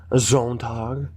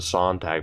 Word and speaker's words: Zontag: Of course, we tried to pronounce it Sontag before, as in Lawrence Sontag of Funhouse, but people corrected me in the past, saying, no, he's Swedish. It wouldn't be pronounced that way.